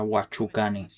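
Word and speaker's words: Washukanni: Es pronuncia Huachukani.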